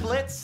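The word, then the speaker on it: Blitzø: I'm Blitz, the O is silent.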